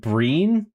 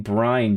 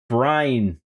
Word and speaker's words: brine: So lau salt breen you mean brine John you pronounced like shrine shine but with burr a shine with but with burr brine.